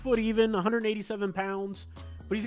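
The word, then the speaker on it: Yves: these other big guys yis pronounced Eve Eve Mei okay I appreciate that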